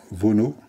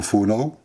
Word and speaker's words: Vonau: Alors mon nom est Vonau, ou Fonau. J'ai un nom familial avec la particularité qu'on peut le prononcer à la française ou à l'allemande.